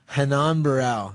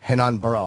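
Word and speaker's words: Renan Barão: Ran Hanan Barau. Hanan Barrow. I was way off. Portuguese. The R is an H.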